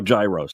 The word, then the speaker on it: gyro: So here I am in line at Papa Gyro's. I order the Gyro Supreme. Suddenly, the lady behind me chimes in. It's pronounced gyro. Then the fella behind her says, It's a gyro.